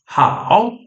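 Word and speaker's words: 好: E agora esse ideograma, ele não carrega a pronúncia que esses ideogramas separados tinham, ele carrega outra pronúncia que agora é how, né?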